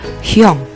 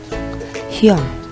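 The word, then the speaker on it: 형: Ada hiet, yo, dan iyeng. Dibaca? Betul. Hyong. Hyong, yang artinya kakak atau panggilan adik laki-laki kepada kakak laki-laki.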